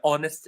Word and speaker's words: honest: This is an honest because honest has a silent h.